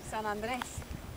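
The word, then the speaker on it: San Andrés: San Andreas ruins. San Andreas, las ruinas de San Andreas. San Andreas. Hold on, Sarah's going to tell us the proper pronunciation. San Andreas.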